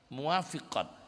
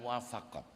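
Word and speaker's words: موافقات: Muwafiqat bacanya bukan muwafaqat.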